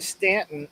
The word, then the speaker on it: Staunton: Although it's spelled Staunton, but it's pronounced everybody. And that's how you know whether people are locals or not. Is how they pronounce the name, but they say Stanton.